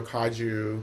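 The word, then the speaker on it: Kagyu: So is it Kaguyu? Is that correct? Yeah, you can get kagu or kaju.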